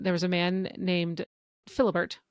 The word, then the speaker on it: Philibert: So during the French Revolution, there was a man named Philibert, which I don't think is the way you pronounce it in French, but that's how you say it in English, and I'm going to call him Philibert from now on.